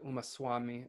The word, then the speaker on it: Umaswami: the Tattvarta Sutra, written by Acharya Umaswami or Umaswati, depending on how you want to pronounce his name, is authoritative for both Digambaras and Shvetambaras.